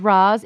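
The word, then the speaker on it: Ra's: way to pronounce it the way all of us have been pronouncing it for a while is Roz but you know what the worst part is everyone in the show says Raz except the character that plays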